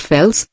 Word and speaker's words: Phelps: The genial William Lion Phelps, pronounced Fels, essaist and professor of literature at Yale, learned this lesson early in life.